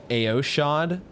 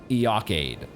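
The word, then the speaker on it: Eochaid: Okay, the next post says Eochade, as in first aid, Eochade.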